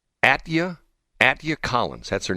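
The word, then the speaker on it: Atyia: name what's her name her name is uh attia a-t-y-i-a would that be Atia Atia Collins that's her name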